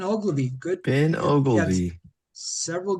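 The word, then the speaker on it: Oglivie: Let's try Ogilvy. Is that how you say his name? Yep, Ben Ogilvy.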